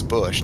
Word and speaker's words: Busch: He says it's Bush, not Boosh, and I know. but the beer commercials. I don't know if you remember where they would crack the beer and they'd go Boosh. Anyway, that's why I say it like that. I think it's funny, but yeah, it's Bush because obviously Anheuser-Busch is right there on the south, on the river south of downtown.